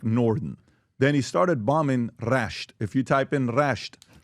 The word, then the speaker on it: Rasht: R-A-S-H-T. He's got a summer Iran. place Iran. there. He knows how to spell it.